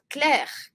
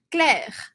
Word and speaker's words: Claire: vou falar esse e eu vou terminar a pronúncia deste nome na letra R Cler Cler Vamos repetir militar Hassan